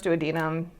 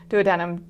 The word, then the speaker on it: duodenum: part is the duodenum I've also heard it pronounce duodenum duodenum duodenum it's both the same thing so or duodenum that's the third option so duodenum do a denim duodenum all of that works uh is going to